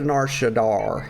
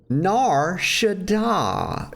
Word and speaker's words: Nar Shaddaa: combat we'll go to Nar Shadar here uh Shadar Shadah stop putting an R in it nar Shadah y'all it's very simple